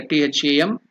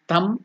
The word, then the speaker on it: Tham: So the it is given there, T-H-A-M. It has to be pronounced as not Tham, it is Tham.